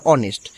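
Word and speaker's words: honest: হনেস্ট বলা যাবে না হনেস্টটা এখানে এইচটা হচ্ছে সাইলেন্ট লেটার সো এর উচ্চারণ হবে অনেস্ট সেম এয়ার মানে উত্তরাধিকারী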